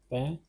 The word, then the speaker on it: pain: Pronunciation is pain, which means bread.